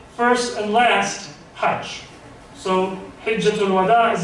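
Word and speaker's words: حجة الوداع: Many of us, we pronounce it exactly opposite. We say Hajjatul Wada. That's wrong. It's Hijjatul Wada in Arabic.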